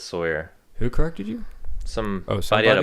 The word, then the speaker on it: Sawyer: I used to pronounce it Sawyer, but then somebody corrected me and said it's Sawyer.